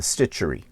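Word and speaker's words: Stitcharie: online quilt stores i found one called the stitchery it's spelt s-t-i-t-c-h-a-r-i-e stitchery and i have the link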